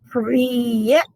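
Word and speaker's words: привет: Um, Priyet is what they're trying to, this is how they spell it, but that's how you say it phonetically.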